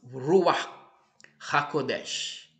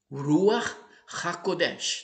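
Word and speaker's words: רוח הקודש: Ruach HaKodesh. Talvez não seja essa a pronúncia perfeita, obviamente, mas é mais ou menos assim que se pronuncia.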